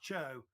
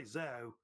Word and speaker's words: Zhou: It's usually pronounced Chou. Some people say Zhou also as well.